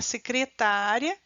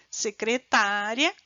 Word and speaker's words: secretária: ou enunciados inteiros então há uma diferença de eu falar secretária e secretaria secretária secretaria não percebe a onde eu coloquei a força no fonema que diferenciou as duas palavras né uma da outra